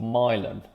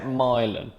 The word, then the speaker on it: Milan: italy okay all right i was like i like to say it like that milan where is it really what is the real place called milan but i like to say mylon i think there's something mispronouncing things that i enjoy i don't